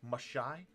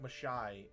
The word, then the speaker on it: Mashai: Because I don't want it to be like Magi, like the G, or like I don't want that G, that hard G or J sound. I think like Mashai is cool.